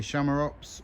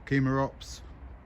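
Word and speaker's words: Chamaerops: tend to call it camera Ops because as far as I know in Latin they used to pronounce the letter c like a hard sort of K which made more of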